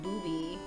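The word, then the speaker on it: ブビィ: of mag's Japanese name is bubby pronounced booby oh yeah I knew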